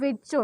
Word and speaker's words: Virchow: तो उसको एक्सप्लेन किया था रुडोल्फ विर्चो ने। ओके, रुडोल्फ विर्चो, स्पेलिंग याद रख लीजिए, ये बहुत इंपॉर्टेंट क्वेश्चन है।